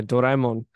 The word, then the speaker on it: Doraemon: Yeah, but Dragon Ball was a long, long time ago, and the Blue Cat one, which you pronounced wrong, was a Yeah, Doraemon.